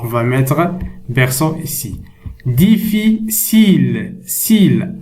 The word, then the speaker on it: difficile: Difficile. Cile. Alors, ici, la lettre C ici, on la prononce S.